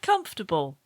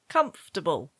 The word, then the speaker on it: comfortable: So you would say, the word comfortable is pronounced table. Table. Comfortable.